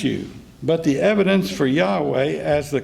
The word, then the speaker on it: Yahweh: appraise and press you but the evidence for Yahweh as the correct pronunciation for the sacred name is at least